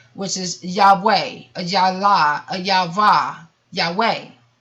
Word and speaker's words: Yahweh: And I will talk about different segments about how to get back to Yahweh and how you are truly supposed to live. But for the 4 Hebrew letters translator Yahweh are Y, a Yod, rhythms with Raz, which means, which we translate to Y.